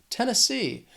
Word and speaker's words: Tennessee: This state has 3 syllables and the stress is on that third syllable, that final syllable, Tennessee, Tennessee.